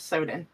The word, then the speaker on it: Sowden: And I see it's pronounced, yes, Sowden. Okay. Like, are your pants ripped? Better Sowden.